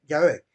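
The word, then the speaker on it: Yahvé: es el nombre Bueno dijiste Jehová pero realmente la palabra debe ser Ya ve ya ve es la palabra correcta Ese es el nombre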